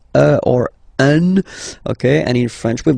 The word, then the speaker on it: un: without any doubt, but you've got to pronounce it like un. So it's what we call the nasal, so it goes in your nose. Okay, un. So if you listen to me, you don't hear any N.